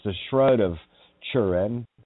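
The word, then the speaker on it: Turin: Shroud uh that that churin you know in Ireland T is pronounced with a cha sign like a chuna sandwich not tuna it's a chuna sandwich so it's the shroud of churin it's a shroud that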